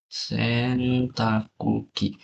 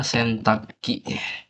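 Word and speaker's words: 洗濯機: Sentakuki. Hmm. Sesuai bahasa dan sesuai tulisan itu kayak gini. Tapi kalau di realnya, orang Jepang itu bilangnya Sentaki.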